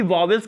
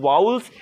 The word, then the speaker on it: vowels: पहला होता है आपका वाउल्स, जिन्हें आप मे बी वॉवेल्स कह रहे होंगे, लेकिन the correct pronunciation is वाउल्स.